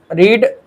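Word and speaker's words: read: गया रीड और रेड third form देखो रीड रेड रेड इसे पढ़ते हैं लेकिन तीनों का जो स्पेलिंग होता है बच्चों वो सेम ही होता है। बस सेकंड फॉर्म थर्ड फॉर्म में इसे हम रेड बोलते हैं।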